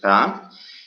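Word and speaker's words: grands: que sería en francés grand. Entonces, para pasarlo al masculino pluriel decimos grand. Pero tenemos que saber, o mejor dicho recordar, que no debemos pronunciar la S al final.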